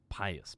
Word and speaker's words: pious: do you say that pius or poyus pius poyus pious poise poise no poise is p-o-i-s-e pious an attentive and organized